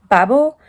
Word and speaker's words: Babel: wasn't sure if you were supposed to say babel or babel or babel or babble the french comes out um i wasn't sure and i looked it up and turns out the author pronounces it babel because the main character i didn't mention it